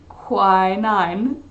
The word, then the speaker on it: quinine: Quinine.